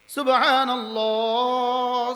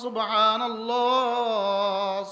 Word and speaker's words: সুবহানাল্লাহ: সুবহানাল্লাহ সুবহানাল্লাহ সুবহানাল্লাহ সুবহানাল্লাহ। হা হয়েছে? হা হয়েছে? যদি হার উচ্চারণ না হয় জীবনে কখনোই এই শব্দটা শুদ্ধ হইল না, 1 নাম্বারও মিলবে না।